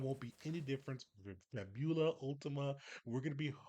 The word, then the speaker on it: Fabula: It's Fabula, so kind of really emphasizing the U, and Fabula.